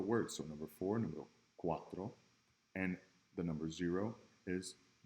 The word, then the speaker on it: cuatro: back today Guapo Quatro is it like an S like Valley or zyk as in cow okay it's gonna be that hard seat so based on these